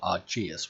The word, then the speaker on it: Aegis: Temporal deflector visual and Aegis engine visual, or Argeus, which is the way some people pronounce it.